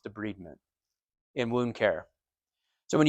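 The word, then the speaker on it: debridement: and me n de bment it looks it's spelled like debridment but it's pronounced de bment in wound care so when you de breed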